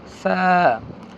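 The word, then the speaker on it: ف: নরম শ্বাস বন্ধ থাকবে ফা নরম শ্বাস চালু মাখরাজ তার ওকে ফা আপনারা ভালোভাবে উচ্চারণ লক্ষ্য করেন ফা আর কি কি কাজ চলছে একটা হরফ উচ্চারণ করতে কি কি কাজ পড়তে হয় সেগুলো এখানে আমি বলে দিচ্ছি নরম করে পড়তে হবে ফা শ্বাস চালু থাকবে 14 নম্বর মাখরাজ এটা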